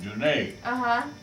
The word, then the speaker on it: Dunnett: See, France, going back to France, our name was pronounced Dunnett. And when I was coming up as a kid, my God, half of Auburn was John Dunnett. Wow. John Dunnett, after half of Auburn, they pronounced it the Scotch. I mean the French. The French way.